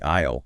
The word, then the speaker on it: aisle: Remember, it has a silent letter S. The walking space where you push your cart. What is that strange word? It is the aisle.